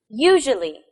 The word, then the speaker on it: usually: Usually. Where's the stress? Usually. Yes, it's also on the first syllable.